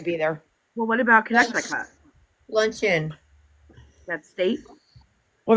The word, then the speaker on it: Connecticut: Well, what about connect I cut lunch in that state? Well, that what state? Connect I cut Connecticut. Connecticut? Yeah, Connecticut. Yeah, I can't say it like that. I go connect I cut.